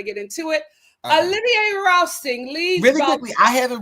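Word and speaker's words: Rousteing: How do you pronounce his last name? Rousting.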